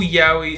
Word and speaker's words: yaoi: I think it was like, oh, yaoi is the best. No, it's yaoi, because yaoi is 2 syllables.